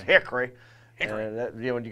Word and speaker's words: Hickory: saying it right we don't pronounce we don't pronounce it Hickory yeah there's no oh is silent you know it's Hickory and you know and you gotta shake your